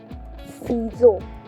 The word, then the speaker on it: ciseau: C, say, ciseau. In French, the S and E becomes Z. The sound of S and E becomes Z in French.